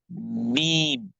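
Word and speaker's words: ميم: Next word is meme. Meme has to be pronounced from the wet part of the front two lips, right?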